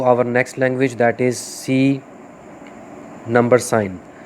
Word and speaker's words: C#: Next language that is C number sign. Number sign basically इसको हम क्या बोलते हैं, इसको हम क्या पढ़ते हैं या क्या प्रोनाउंस करते हैं, वी कॉल इट C#। इसको हम बेसिकली C# बोलते हैं।